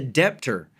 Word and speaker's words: debtor: the lender as the debtor not only are you wrong but the B is silent you dumb ass now